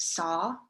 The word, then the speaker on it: Sau: is called hong sao it's spelled h-o-n-g and s-a-u but it's pronounced saw so s-a-w so on the inhale